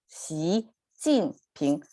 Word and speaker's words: 习近平: of his name, and it's pronounced as Xi Jin Ping. So it's rising, falling, rising, Xi Jin Ping.